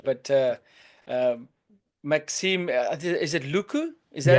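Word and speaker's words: Lucu: But um, Maxime, is it Luku? Is that how Yeah, you that's pronounce right.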